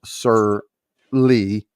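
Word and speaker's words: sur lie: A technique inspired by a French winemaking process called Sur Lee, which is how you pronounce that.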